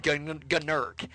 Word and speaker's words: Gnurk: Is that how you pronounce it? Yes. Gnurk? Gnurk.